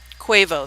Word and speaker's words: Quavo: do you spell this guys how do you pronounce this guy's name I want to say quavo is that correct anybody no quavo thank you okay big ring champagne my life